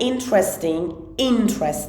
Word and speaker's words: interesting: But it's an interesting. Pay attention to this stress. This stress is on just the first part.